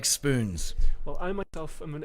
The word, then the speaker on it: Spoonz: of an organization called Spoonz, with a long O in there, Spoonz, and a Z at the end, and they host cuddling events.